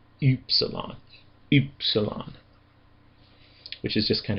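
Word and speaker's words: ύψιλον: Technically it's supposed to be a German obl u sound, not a regular u sound. Uh the best rendition of it that I can do is oopsilon.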